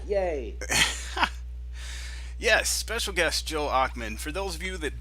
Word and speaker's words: Ochman: So today we have Joe Oxman. Hello Right? Is there. that pronunciation? Yes, perfect. Yes. Got it on the first whack. Yay. Yes, special guest Joe Ockman.